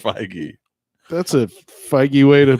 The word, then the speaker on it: Feige: No, Spider-Man is the end of Phase 3, according to Feige.